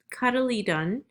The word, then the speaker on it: cotyledon: of the main differences this is pronounced cuddly cuddly done so cuddly done is